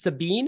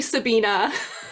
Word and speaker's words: Sabina: Everybody, this is Sabine. Am I pronouncing that right? It's actually Sabina.